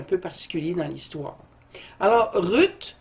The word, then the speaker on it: Ruth: particulier dans l'histoire alors ruth ou route en prononciation hébraïque veut dire qu'on part